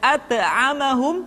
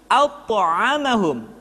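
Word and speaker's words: أطعمهم: huruf Kaf dan th karena dia memiliki sifat alqalqalah ketika dalam keadaan sukun maka Qalqalah yang yang terdengar ketika mengucapkan qaf dan tho terdengar menebal suaranya jadi tidak dibaca AQ at tetapi AQ at alfalaq atth'amahum tidak at'amahum tapi at'amahum Iqra dan seterusnya Kemudian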